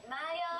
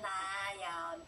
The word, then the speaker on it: 나연: How to pronounce Twice names? Twice. 멤버들. 나연. Sorry. 각자 얘기하면 되겠다. I'm 나연.